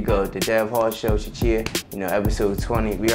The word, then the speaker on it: Chuchea: Is it like Chuchea or like? You just said it perfectly.